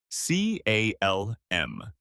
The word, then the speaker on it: calm: C A L M. The L is silent.